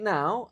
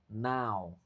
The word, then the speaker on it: now: Right now I'm hungry. Oh, sorry. Right now I am very hungry. Right now I'm very hungry. Ingat cara bacanya now ya, bukan no. Now ao.